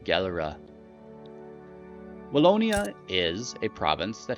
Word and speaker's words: Gelre: I'll try to not pronounce it as the Dutch would, because I will scrape that over the back of my throat in an incredibly clumsy way. So we'll stick with Gelre.